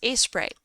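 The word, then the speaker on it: Aseprite: is a photosho term it's pronounced as Sprite yeah I might just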